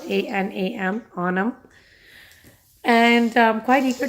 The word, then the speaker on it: Anam: My name is Anam. It's spelled A-N-A-M, Anam.